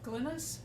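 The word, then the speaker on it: Glines: the book, The Four Came Home, by Colonel Glynis, is that how we pronounce Yep.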